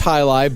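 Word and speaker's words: jai alai: There was a Well, and it's pronounced highlight, but it's spelled Jaialai.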